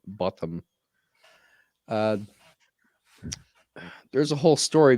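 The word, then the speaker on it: Bothm: is Ina bottom and bottom is spelled b o t h m and pronounced the British way Ina botam uh there's a whole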